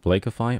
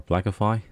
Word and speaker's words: Blakify: for two weeks the software is called blakeify or blackify depending how you want to pronounce it this is a text